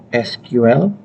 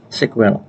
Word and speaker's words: SQL: hai hai t-sql sering dibaca SQL atau sila-3 cara baca yang lain adalah sekuel atau structured query language